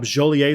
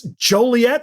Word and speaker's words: Joliet: I just walked up joler Street and everyone thought that was the funniest thing they had ever heard because a me a fool idiot pronouncing jol like joler and then said it's Joliet Street and I'm like that's